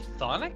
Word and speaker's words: chthonic: How do you actually pronounce this? You actually just say chthonic? Really? You don't say the C? Really? Apparently.